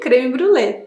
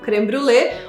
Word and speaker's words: crème brûlée: it comes from: France You have to pout if you want to pronounce it like an authentic Frenchman, and articulate those “R”s from the back of the throat: CRÈME BRÛLÉE In fact, you can pronounce it however you like, the Brazilian way creme brulê or also as the